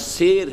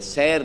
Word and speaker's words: سیر: نہ ہو سکیں گے۔ یہ لفظ سیر ہے، سیر نہیں۔ سیر کہتے ہیں سیر کرنے کو، چلنے کو۔ یہ تلفظات بھی اپنے